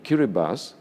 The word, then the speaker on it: Kiribati: Pacific Ocean and the key Reba's is the local pronunciation of the name of Gilberts I mean mr.